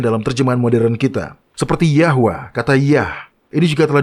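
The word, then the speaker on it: Yahweh: Sekarang Jehovah atau seperti yang kita ketahui pengucapan yang benar adalah Yahwa.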